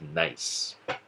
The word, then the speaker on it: gneiss: a metamorphic rock called nice gneiss that's pronounced nice granite is the parent